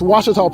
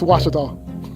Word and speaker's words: Ouachita: It's Washita Baptist University. Get it right. It's Washita, people. It's Washita. Washita.